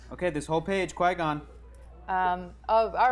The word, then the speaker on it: Qui-Gon: Okay, this whole page, Qui-Gon. Oh, all right. It's pronounced Chi-Gon.